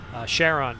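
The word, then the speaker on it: Charon: wild of Pluto's Moon Sheron I guess if you're an Nas astronomer you pronounce it that way and Kon if you're Greek here we have an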